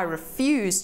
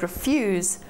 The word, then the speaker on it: refuse: Now what happens if we take the same word refuse and put a stress on a different syllable? Refuse, when we put the emphasis on the re instead of the fuse, means anything thrown away, waste, rubbish.